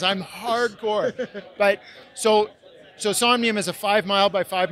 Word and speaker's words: Somnium: if you're unfamiliar with soul how do you pronounce this somnium somnium space is is the name of the app